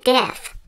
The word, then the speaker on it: Diff: Turts, this is my friend Diff. Hi, how's it going? Oh, like Biff from like Back to the Future? No, it's pronounced with a D, like Dick.